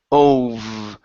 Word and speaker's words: over: Okay, so top teeth on your bottom lip. V, over. Over.